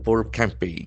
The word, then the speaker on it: campaign: or fight the Number campaign. C A M P A I G N. So that is a very important noun having the accent on the second syllable.